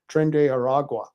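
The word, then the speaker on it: Tren de Aragua: we were talking about crime and how the Trende de Gua, yeah, I can't pronounce it. I'll have a story on it in a minute. We'll read it here in a minute. Trende Aragua.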